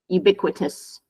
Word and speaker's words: ubiquitous: it it's I guess it's basically like it has quit in there so you just say you bit quit ubiquitous yeah okay so what